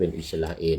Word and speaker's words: อิสราเอล: เคน ไว เมื่อ กี้ ต้อง ออก เสียง เป็น อิสราเอล นะ อิสราเอน จะ ต้อง จ่าย เส้น